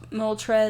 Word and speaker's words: Moltres: yeah yeah picture this I'm trying to catch Moltres is that how you say it yes okay